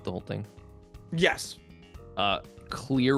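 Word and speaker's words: Clear Rivers: Uh, Clear River, is that her name? Yes, that is how it's spelled. But they keep calling her Cla. And I don't know if her name is supposed to be Claire or Clear.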